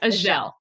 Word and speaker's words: Azhelle: I have to tell you, it's Azhelle. I'm sorry. Azhelle. No, that's fine. That's fine. I usually ask people exactly how they pronounce their name too. And I did not do that. So Azhelle. Yes, Azhelle. Okay.